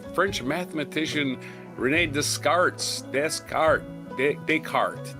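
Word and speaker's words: Descartes: But night uh 1596 f m French mathematician Renee Descarts descart deart Deart that's how you pronounce it decart widely considered a father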